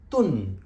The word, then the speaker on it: tun: Now, moving on, you've got another syllable, which is tun, which can also be pronounced as tin at times, depending on the exercise that you're playing.